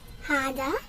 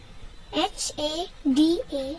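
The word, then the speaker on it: 하다: Now I'll teach you how to pronounce it. It is very easy and simple, which is hada. H-A-D-A.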